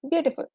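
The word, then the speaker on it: beautiful: तो आपने जब बोला ब्यूटीफुल, ओके, ल पे don't stress too much. Okay, easily, simple, ब्यूटीफुल.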